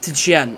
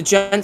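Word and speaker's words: djent: Oh, den. Uh it's like a sub genre. No, it's the gent spelled with a J.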